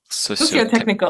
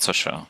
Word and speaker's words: socio-technical: So this word that is difficult to pronounce, socio-tech, Socio-technical. Yeah. socio-tech. It's socio, not social, social Well, technical.